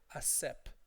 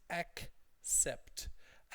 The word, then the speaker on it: accept: So students often say accept or accept. Don't say that. It's accept. Sometimes the T drops if there's another word that begins with T after it, like accept that.